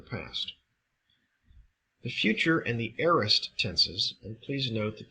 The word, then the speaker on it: aorist: other in the past the future and the aist tenses and please note that this is pronounced aist it is not pronounced aorist communicate or portray simple or undefined action in